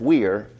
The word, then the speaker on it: vir: Coming from the Latin word vir, spelled V-I-R, but pronounced wir, man.